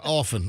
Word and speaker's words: often: sentence was often yeah often I I don't pronounce the tea oh my god oh